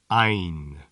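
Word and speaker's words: عين: Ein. This letter is pronounced like I, with a bit of an N at the end.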